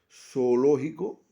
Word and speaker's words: zoológico: La palabra leer igual leer zoológico. Hay dos vocales fuertes en el caso zoológico o o sería el medir so o lógico.